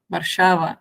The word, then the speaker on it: Warszawa: That's the pronunciation, yeah. Warszawa in my language.